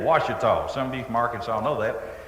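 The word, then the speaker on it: Ouachita: is really true so I had to spell wash by Texas phonics now you really spell it o u a c h i ta wash some of you mark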